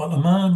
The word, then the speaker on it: Al-Aman: Lam, Sakin, that alif which is there in Al is a silent alif. It is only pronounced when it begins begin the sentence. Otherwise, if you just continue, then it just remains silent.